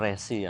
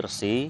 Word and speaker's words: resi: sedikit untuk pengucapan pengucapan jadi untuk resi itu bukan rezeki ya tapi resi Ayo kita sepakati saja untuk